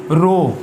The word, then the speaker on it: rho: और इसको रो से जाहिर करते हैं, ये इसका सिंबल है और इसके स्पेलिंग है RHO, रो। एक तो होता है ना ROW, कितार बनाना, ये वो नहीं है।